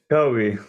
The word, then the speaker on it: Kobe: Kobe. Yeah, Kobe.